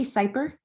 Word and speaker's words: Cyper: Do you say Cyper? I want to make sure I'm pronouncing that right. Okay. Yep. Dr. Paige Cyper, who's a licensed clinical